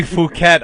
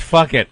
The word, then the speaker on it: Phuket: They say Phuket on the news, but it's spelled Phuket. And if you ask me, that's fuck it.